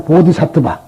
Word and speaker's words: 보디사트바: 보살이라는 건 어디까나 보디사트바.